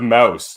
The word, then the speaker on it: Maus: But Mouse is spelled M-A-U-S.